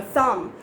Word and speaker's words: thumb: not be voiced so whenever b is at the last position of a word you don't have to pronounce it but still there would be a feeling that b is there okay okay great so